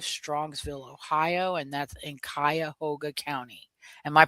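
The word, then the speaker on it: Cuyahoga: And that's in Kayahoga County. Am I pronouncing that correctly? Kyhoga County. Yes. Okay. Kyhoga or Kayahoga. Kyahoga.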